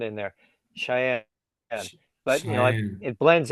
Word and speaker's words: Cheyenne: Cheyenne. Cheyenne. Cheyenne. Cheyenne. Yeah. Put like think of you like your eye and say Cheyenne. Cheyenne.